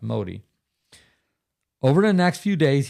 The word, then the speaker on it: Modi: I believe that's pronounced Modi.